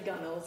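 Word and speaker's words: gunwale: like yeah yeah this I think it also spelled gun whales and I remember someone afterwards I think that's how I was pronouncing it initially being like it's actually guns and I was like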